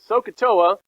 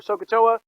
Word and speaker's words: SOHCAHTOA: it too much but thank you now so sohcahtoa is what you need to remember i'm going to show you how to use it but remember the s-o-h-c-h-t-o-a you can remember sokatoa you're halfway there now what does it mean